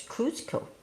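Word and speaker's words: Cuzco: I think it's Kusco. Then it's Cusco.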